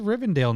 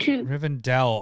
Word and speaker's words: Rivendell: coming up is it I thought it was r-i-v-e-n isn't it rivendale she can't even read Rivendell oh that I was doing Dale Riven Adele yeah yeah I'm saying it wrong no I just so